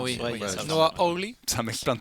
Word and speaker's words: Noah Hawley: on sent que Noah Wiley en profite pour vraiment enfin, s'exerce, Sûr que tu s'applique. prononces comme il le faut, Noah. C'est Noah. pas Noah. Noah Hawley.